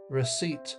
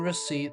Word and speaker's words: receipt: Receipt. The P in receipt is silent, so don't say it.